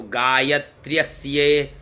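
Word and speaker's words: गायत्र्यस्य: हैं गाय गायतस्य कपदी पहले उच्चारण कर लो गाय य आधा त्र य आधा स और ये तो गायत्र्यस गायत्र्य स कपदी द्विपदी त्रिपदी चतुष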